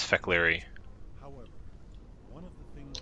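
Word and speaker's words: Fek'lhri: The Fakiri share many characteristics. Oh, he actually does pronounce Fekleri.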